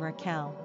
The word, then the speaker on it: Raquel: Quick Facts ON RAQUEL GENDER: Girl ORIGIN: Spanish NUMBER OF SYLLABLES: 2 RANKING POPULARITY: 690 PRONUNCIATION: rah-KEL SIMPLE MEANING: Ewe Characteristics